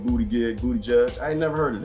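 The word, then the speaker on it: Buttigieg: Booty Gig came out of nowhere. Did I say it right? No, it's Booty Judge.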